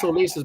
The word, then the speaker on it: Ulises: it Well, in Spanish is Ulysses. Ulises. It's Ulises, but in English you could say Ulysses.